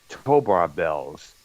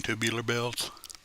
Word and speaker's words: Tubular Bells: He played all the instruments on the majority of his albums, including Tobar Bells, which later became the theme music for the Exorcist movie back in '73. You mean Tubular Bells?